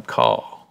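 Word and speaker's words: Karl: Picture him walking down the road, and they call him Caw. You don't pronounce the R, just Caw, okay?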